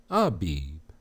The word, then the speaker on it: Abib: Strong's H24, the word is Abib, transliteration, Abib, pronunciation, Aw-beeb.